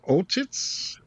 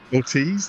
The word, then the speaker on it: Ortiz: Um, we've got Sharon Stone, we've got Colin Hanks, Tom Hanks's son, and John Ortitz. Is that how you pronounce his last name? Ortiz. Thank you.